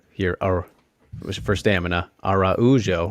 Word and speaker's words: Araujo: a black belt uh arujo here or was for stamina araujo right you got to get the pronunciation correct there um very very